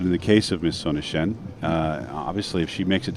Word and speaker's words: Sonnichsen: How do you pronounce this? You are the good one. Sonnichsen.